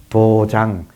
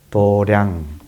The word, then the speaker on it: 도량: 도에 공동체 의 공간을 도장 이라고도 도장 도장 을 불러 식으로 발음하면 도량 어디가 도량 이에요 이도가